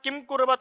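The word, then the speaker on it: किमकुर्वत: पर वस्तुत वहां पर क्या है म पूरा है तो अपन को किस प्रकार बोलना है केम मतलब कि अ का भी उच्चारण सुनाई देना चाहिए म के अंदर है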